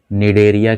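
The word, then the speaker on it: Cnidaria: और इसका second name हम कह सकते हैं OR में, इसको हम निडेरिया के भी नाम से जानते हैं। यहाँ पर सी साइलेंट है।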